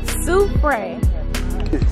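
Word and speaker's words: Soufrière: Soufriere.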